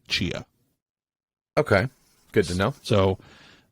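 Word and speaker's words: Tchia: Now, when you're actually in the game, the T is just silent. They just say Chia.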